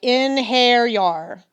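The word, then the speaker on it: einherjar: you in hair Yarnell he pronounced the word like in hair yar in hair yar I repeat it just rolls right off the tongue yeah singular in hair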